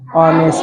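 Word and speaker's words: honest: हो रहा है उच्चारण किसका हो रहा है ऑनेस्ट का नहीं पड़ती क्या पढ़ते हैं इसको एकदम याद कर लीजिए जहां ऑनेस्ट आएगा ह ओ एन ए एस टी यहां पर हम लगाएंगे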